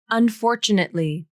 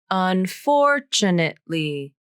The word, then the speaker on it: unfortunately: Unfortunately. This is a 5-syllable word, so it can be a little tricky to pronounce. The second syllable has the most stress. Unfortunately.